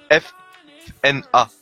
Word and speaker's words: Fnatic: Et au final, en fait, heureusement qu'on prononce fanatique, parce que si c'était écrit F-N-A-T-I-C, ce serait Fnatic.